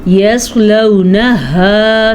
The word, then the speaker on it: يَصْلَوْنَهَا: يَصْلَوْنَهَا يَوْمَ الدِّينِ، يَصْلَوْنَهَا صاد کو پور پڑھنا ہے، ہا کو اپنے مخرج سے نکالنا ہے.